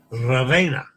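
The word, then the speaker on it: Ravenna: roll the yard Ravena mind your e in Italian yeah yeah yeah it's pronounced hey like in day there's Elizabeth buenos dias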